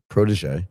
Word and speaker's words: Protege: I'm presuming we pronounce the name of your company as protege. Yes. Thank you for getting it right.